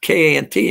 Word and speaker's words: Kant: Kant, K-A-N-T, and you'll understand Germans. If they pronounce it Kant, but it's K-A-N-T, you'll understand how I think.